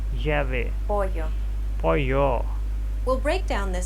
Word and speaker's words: pollo: Now, let's listen to how Alex pronounces this sound in a few words. Llamar. Llamar. Llave. Llave. Pollo.